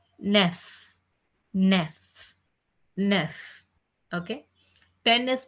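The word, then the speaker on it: neuf: 9 is pronounced as nef.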